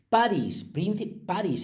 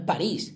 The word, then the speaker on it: Paris: Paris, no es París, que no lleva tilde.